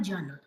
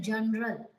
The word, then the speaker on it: journal: seen people are speaking, pronouncing this word as general. It is not general. R sound has a weak sound. You have to drop the sound of letter R. It is journal.